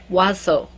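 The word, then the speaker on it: Oizo: It's actually French. The only reason I know how to pronounce this, and I probably pronounce it horribly, is because she put a pronunciation on her profile page. It's O-I-Z-O, Wazo.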